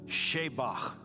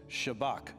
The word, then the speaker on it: Shabach: good guys final finally number seven sheach when I first learned this I thought it was shabbach guess I pronounced it the white way and um is that